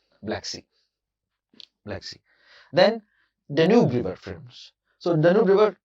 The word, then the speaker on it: Danube: Some people pronounce it as Danube, but it's pronounced as Danube, friends.